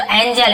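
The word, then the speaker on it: angel: जैसे देखिए एंजल, ये लिखा हुआ है एंजल, GE है तो ज उच्चारण होता है, जी के बाद ई हो तो एंजल।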